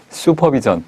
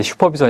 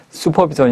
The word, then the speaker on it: 수퍼비전: 이게 영어 기 때문에 영어식 발음은 수퍼비전 이 훨씬 더 가깝습니다 어 이제 미국에서 발음할 때 슈퍼비전 이라고 하지 않고 수퍼비전 이라고 하죠 욕 그게